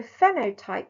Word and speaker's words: phenotype: So phenotype, PH, is a silent PH. So imagine it as an F. So people who speak and sound phonetically, think of it as an F. So it's phenotype. It's not phenotype, it's phenotype.